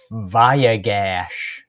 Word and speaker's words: Vayigash: Vayigash.